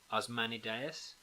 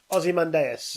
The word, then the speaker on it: Ozymandias: That's So the poem it says here is I can't pronounce this, by the way. Osmanideus. No, yeah, you're Cain close. and Abel's Ozymandias.